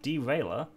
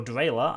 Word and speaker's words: Derailer: Beef is teamed this season with Derailer, or Drailer, as I've been told to pronounce his name.